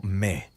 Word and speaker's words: me: El término se pronuncia como Me y no tiene una traducción única al español.